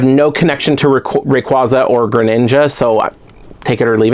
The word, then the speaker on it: Greninja: Yeah, Greninja.